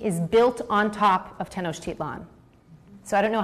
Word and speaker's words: Tenochtitlan: ancient Aztec capital was called Tenochtitlan and I'll spell it for you it's te n OC h TI t LAN Tenochtitlan oh great great yeah perfect that was